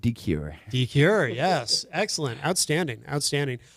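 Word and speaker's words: DeCuire: My last name is D E C UI RE. Yes. Yes. And you pronounce it dure.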